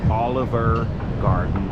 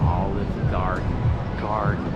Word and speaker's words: Olive Garden: Well, anyway, this is not Oliver Garden. Just look at the name. It's Olive Olive. Olive Garden or God.